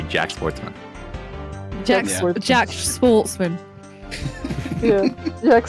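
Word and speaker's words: Jacques Portsman: to say that Jack Jack portsman prosecutor Jack wouldn't pronounce this because it's a French name but his name is literally Jack Sportsman Jack Jack Sportsman yeah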